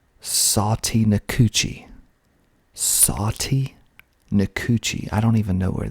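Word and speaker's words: Sautee Nacoochee: so we also have another weird one called sati nikuchi i don't even know where this is but it's spelled s-a-u-t-e c n-a-c-o-o-c-h i e satie nikuchi next we have lagrange lagrange rex rex home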